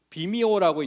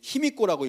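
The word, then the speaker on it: 卑弥呼: 좀 분분합니다 그렇지만 외국의 여왕이 비미오라고 있는데 이제 힘입고라고 읽죠 근데 173년에 들어왔다 신라로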